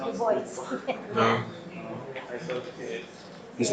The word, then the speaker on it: Du Bois: Du Bois, it's actually pronounced Du Bois.